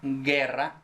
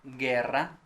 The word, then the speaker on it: guerra: l plus o represents only used in the sequences where we have silent as in guerra guerra or guitar so war